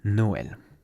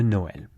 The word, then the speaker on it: Noël: Joyeux Noël. Et voilà, there you go. Joyeux Noël. again, say it several times in a row so that it rolls off the tongue. Joyeux Noël.